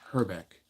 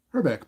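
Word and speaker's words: Hrbek: away here's K herck the a is silent it's actually not it's herck herbeck playing first today batting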